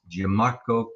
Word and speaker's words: Giammarco: is giammarco Yes sounds exactly like it's spelled oh yeah yeah I know people do have trouble with it I don't know why he's got the two M's that throws them off our show is panoramic